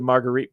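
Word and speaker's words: Margherita: She loves a good Marguerite pizza. Now, see, that's how we pronounced it in Jersey. Marguerite, not Margarita. Marguerite.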